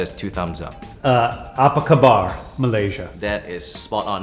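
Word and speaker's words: Apa khabar: apaba Malaysia that is two thumbs up uh apak kabar Malaysia that is spot on now the second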